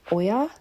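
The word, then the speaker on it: olla: I've also put in this planter the I think it's OA I think is how it's pronounced, but it's like O L A.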